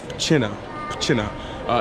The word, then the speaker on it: Pszczyna: You say it PSZCZYNA. It's about 25 minutes or 30 minutes south of here in Katowice. It's supposed to be cool, little adventure. Why not? Okay, so finally here at PSZCZYNA.